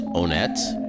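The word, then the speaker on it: Onett: Yeah, supposedly the canon pronunciation of that name is Onet, which to me makes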